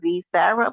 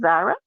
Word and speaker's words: Zara: Then that's how her name is pronounced because y'all keep saying Z Sarah, but it's not pronounced that. It's pronounced Zara.